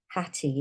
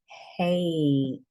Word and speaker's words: hate: So it doesn't say hat, and it doesn't say hatty, it says hate.